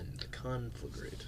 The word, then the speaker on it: conflagrate: Yeah, you want to put the stress on the conflagrate.